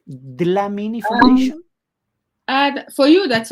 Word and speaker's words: Dlamini: to talk about EST glamini Foundation is it pronounced right de la mini Foundation and for you that's okay Foundation okay